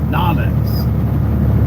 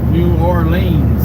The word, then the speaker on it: New Orleans: New Orleans, as some would say. That's what I used to say until I started working down there. Now I say it like the locals. Nolens. One big long word. Actually, it's spelled as a big long word, but it's pronounced as a short word. Nolens. 2 syllables.